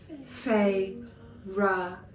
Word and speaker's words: Feyre: She fixed her wide eyes on me and said, "Please, Feyre, She drew out the 2 syllables of my name. Fay-ra. F-A-Y-R-U-H.